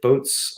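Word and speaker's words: BOTE: this one yeah right so I think it's pronounced boat if I'm not mistaken okay um and they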